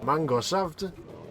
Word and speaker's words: Mangosaft: Und die öffnet die Flasche und erkundet Mangosaft. Mangosaft? Is that not how they pronounce it in Germany? No, there's no E on the end of Saft.